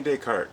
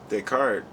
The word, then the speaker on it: Descartes: was it's an interesting read because okay Renee deart was and it's spelled Descartes for those who don't know d